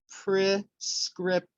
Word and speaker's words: prescription: stress syllables for example the word prescription the stress syllable is the second syllable so it would be prescription and then we are